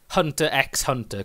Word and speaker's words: Hunter X Hunter: Yeah, it's kind of Japan being cool because they use, basically it's a Hunter X Hunter kind of thing. The X doesn't mean anything. Yeah. You don't even pronounce it.